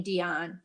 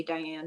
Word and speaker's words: Diane: she was a petite she pronounced her name dion you know in in our circles we usually say diane but she pronounced it